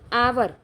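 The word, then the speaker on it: hour: It takes आवर। इसको हावर नहीं बोलते। बहुत से लोग इसको हावर पढ़ते हैं जो कि गलत है। इसको बोलते हैं आवर।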